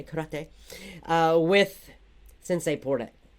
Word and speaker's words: karate: Learning karate, if we want to pronounce it in the Japanese way, karate, with Sensei Porta.